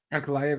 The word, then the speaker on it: Ankalaev: Like the how you pronounce homeboy's last name in the main event there? Ankalaev, yeah.